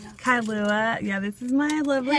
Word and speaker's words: Kailua: KAILUA, yeah. KAILUA.